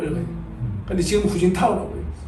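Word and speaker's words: 胡锦涛: 풍조가 될 수 있는 그 나라 발음을 읽어 주자 해가지고 어 도더 히시 옛날에는 어 뭐 중국 사람들도 중국 사람들도 옛날에는 근데 뭐 어 지금 그 얼마 전에 저가 했던 분이지 중국에 주석했던 후진타오 옛날 호금도라고 읽어 근데 지금 후진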